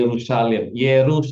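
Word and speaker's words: Yerushalayim: Oke, ini bacanya Yerusalem. Oke, mulai sekarang kalian membaca Yerusalem. Ye, Ru, Sha, La, Yim. Yerusalem. Ya, Yerusalem. Yerusalem. Iya, ya. Orang di sana bilangnya Yerusalem. Kalau kita bilang Yerusalem. Kalau benar Hebrew benar itu Yerusalem.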